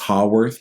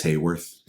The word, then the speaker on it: Haworth: I always thought it was Haworth because of the way it's spelled, but I heard him say it the other day. It's Hayworth.